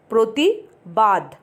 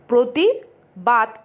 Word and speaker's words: প্রতিবাত: অনেকে কিন্তু ভুল করে লেখে প্রতিবাদ, মানে প্রতিবাত, ত না লিখে দ লেখে, সেটা কিন্তু ভুল। উচ্চারণটা কি হবে? প্রতিবাত, মানে দুটোই ত।